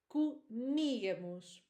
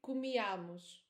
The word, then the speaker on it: comíamos: So within the word, we say comíamos. Comíamos. Many students have the tendency to say this in the wrong way. Many students say comíamos.